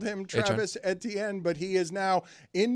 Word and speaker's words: Etienne: Travis Etienne, who's now a New Orleans Saint, something or nothing? Uh let's play that sound. Uh, Travis Etienne, uh, we've all called him Travis Etienne, but he is now in New Orleans and